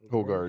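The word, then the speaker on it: Højgaard: My guy here is, and correct me if I'm saying his name wrong, Rasmus Hoggard. Hoggard.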